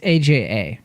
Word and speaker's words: Aja: it Alexandra aha aha okay so it's I thought it was AG G is it Aja it's Aja oh okay for what